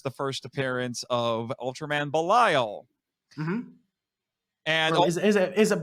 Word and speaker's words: Belial: or belial i say belial because i think like how you're supposed to say it's a hebrew name and i think that's how you're supposed to say it in hebrew yeah i go by